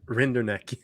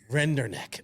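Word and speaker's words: Rinderknecht: to say it already how do you say it kevin rinderneck render neck okay it sounds like ring her neck that's what it sounds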